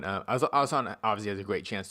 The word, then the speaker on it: Alhassan: name Abdul razak alassan Rak alassan y yeah alassan alassan obviously has a great chance to win the